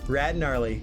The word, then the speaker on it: Gnarly: about your old pal the silent g rad gnarly saying so long for